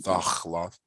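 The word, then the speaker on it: תחלת: Is Thachalath and not Thachlath? Yeah, it is reduced. I mean, you might be hearing Thachalath from some people, but it should be Thachlath.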